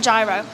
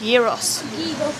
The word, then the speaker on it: gyros: what is it it's not g it's not gyro it's a gyro no it's not it's a Euros Euros Euros that's how it's pronounced Euros Google translat say gyros gyros but some people